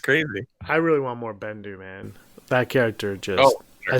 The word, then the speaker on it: Bendu: Bendu. I am the Bendu. He's a big old lion man made of rocks. Was he? Do you know what Bendu rhymes with? But I do.